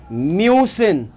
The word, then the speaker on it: müssen: क्योनेन, repeat after me, क्योनेन, वॉलन, म्यूसिन। Pronunciation देख रहे हो, यू विथ जो उमलाउट है और ओ विथ उमलाउट है, इसकी साउंड नॉर्मल यू और ओ की तरीके से नहीं आती।